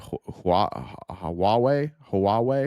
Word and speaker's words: Huawei: I remember back in my Joe Rogan days, I remember Joe Rogan complaining about, I think you say it Huawei. I think Huawei is how you say it.